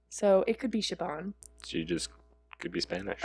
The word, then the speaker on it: Siobhan: I also love the name Siobhan. That was Siobhan. Really name. They were calling her Siobhan. Siobhan. With a V? With a V. That's how it's pronounced. I thought it was, like, with a B.